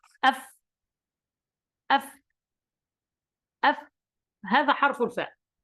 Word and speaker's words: ف: الفاء كيف تخرج من بطن الشفة؟ أي شفة؟ الشفة السفلى مع أطراف الثنايا العليا، يعني إذا التصق طرف السنتين الفوقيتين هذا مع بطن الشفة في الأسفل، هنا ننطق الفاء، نقول هكذا أف، أف، أف، هذا حرف الفاء.